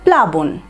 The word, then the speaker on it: প্লাবন: তাহলে উচ্চারণটা কেমন হবে, প্লাবন, পয়ের কিন্তু দেখো পয়ের ওপরে কোনো জোর আসছে না, প্লাবন প্লাবন, প্লাবন মানে